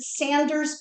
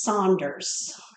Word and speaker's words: Saunders: They're from Detroit, and they do not pronounce it Sanders Bakery. It's Saunders.